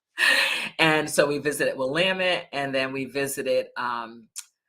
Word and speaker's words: Willamette: we went to visit Willamette which rhymes with damn it so that's how you remember how to say that correctly and so we visited with Willamette and then we visited